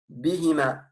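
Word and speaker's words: بهما: Et ensuite, huma, ici, donne une autre petite remarque, il va devenir hima. Ça, c'est une histoire d'écriture et de prononciation. S'il est précédé d'un i long ou bref, ou d'un ya portant un soukoun, comme ici. Huma plus bi, ça donne bihima, tout simplement.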